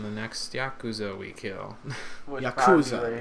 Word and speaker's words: yakuza: next yakuza we kill yakuza is how it's pronounced douchebag yeah gold that does exactly 1 33 37.